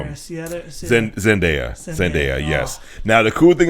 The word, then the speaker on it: Zendaya: Zendaya, yes.